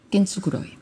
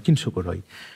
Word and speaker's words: kintsukuroi: es complicado es complicado Mira el japonés tiene una cosa que se pronuncia Exactamente igual que el español entonces kukuro kintsukuroi las letras el fonema es igual que en el español kintsukuroi por un lado eh